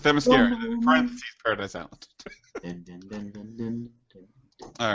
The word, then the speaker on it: Themyscira: they show her leaving Themyscira. Themyscira. Whatever. Just remember, there's mascara in the name.